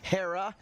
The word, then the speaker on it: Harrah: That foul, it's the second foul for Daniels, the junior from Harrah, Oklahoma. Now that's easy to pronounce, big guy. Harrah, H-A-R-R-A-H.